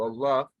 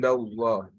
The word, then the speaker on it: Allah: So the first one is when the letter Lam of Allah is pronounced heavily and with a full mouth when the last letter of the word prior to Allah has a fatha or a dhamma.